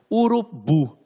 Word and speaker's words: urubu: Olha aqui a oxítona. Urubu. Então, ó, olha a fala. Urubu. Então, esta última sílaba tem um som mais forte, por isso que é uma oxítona.